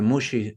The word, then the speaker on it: Muxi: también tienen la incomodidad que Mushi suena como si fuese Sushi pero se escribe con x entonces muxi Entonces